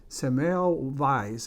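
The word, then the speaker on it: Semmelweis: by the name of samael vice i think is the way you pronounce it who suggested that if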